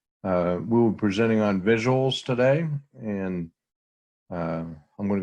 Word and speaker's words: VisuALS: our name is visuals we capitalize the als because as you'll learn that comes in our history uh but it's just pronounced visuals generally and our agenda for